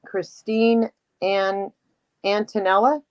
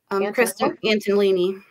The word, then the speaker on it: Kristen Antolini: This thing, Christine Antonella? Kristen Antolini. Antolini. Okay.